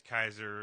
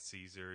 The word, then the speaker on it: Kaiser: Kaiser's embarrassment his name's Kaiser it's pronounced Kaiser it's not Caesar you know what the